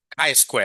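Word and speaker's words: chi-square: How do you pronounce this? Not T. K square, isn't it?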